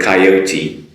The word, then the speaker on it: coyote: Can you understand me when I say the word coyote? Coyote. Now I'm just going to use the English pronunciation.